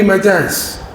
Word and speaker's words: Magi: When I did my BSc degree first year, that English non-detail, 3 Magi's. My English professor taught me, that is the pronunciation, Magi.